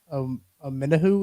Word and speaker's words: Omenihu: But I also think I saw that the deal for Omenihu, is that how you say it right?